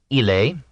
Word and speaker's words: ille: In popular Latin, ille, he, was one syllable, like French and Italian il.